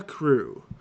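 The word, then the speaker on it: Crewe: I been so busy I am a froa crew um crew I will spell it for you because it's very hard p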